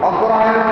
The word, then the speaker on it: অগ্রহায়ণ: বৈশাখ, জ্যাঠ, আষাঢ়, শ্রাবণ, আশ্বিন, কার্তিক, আগুন, অগ্রহায়ণ কি বলা হয়? আগুন বলা হয়, আগুন।